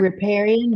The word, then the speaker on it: riparian: How do I pronounce it? What is it? Riparian buffer? Riparian buffer.